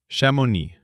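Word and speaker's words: Chamonix: Shamoni? That sounds fancy. How do you spell that? It is spelled C H A M O N I X. The X is silent at the end. Shamoni.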